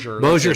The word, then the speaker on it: Bossier: Bossier City.